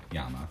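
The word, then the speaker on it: 山: But the original Japanese pronunciation for mountain is yama.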